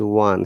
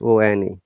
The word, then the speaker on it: won: examples if i want remember the w-o-n this pronunciation is one same as o-n-e not all you know very often people say own that's the wrong pronunciation it is one if i won the